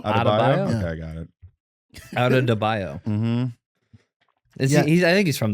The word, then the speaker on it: Adebayo: Adebayo. Adebayo? Okay, I got it. Adebayo.